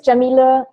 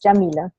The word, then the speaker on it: Yamile: you're from so um my name is jameelah that's how you pronounce it it's usually the first question people have that know me from online how do you pronounce your name and it's jameelah and my last name